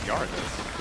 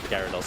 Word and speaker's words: Gyarados: Is it Gyarados or Gyarados? It's Gyarados, I think I said it wrong.